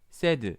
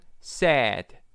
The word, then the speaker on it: said: 한글에서의 발음 구석 원리는 우리가 이거 읽어 봐라 그러면 세드 세드 이렇게 발음합니다. 하지만 이때 이거는요 우리가 영어에서 구사한이 세와 다른 발음의 혀 위치해요. 그래서 이거는 세드 한국말이죠. 이거는 said 그리고 기본적으로요 단어는요 짧진 않아요.